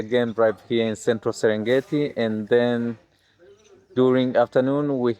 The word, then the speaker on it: Serengeti: Serengeti, yeah. But the first person mispronounced it Serengeti, and now Okay. the word Serengeti is official.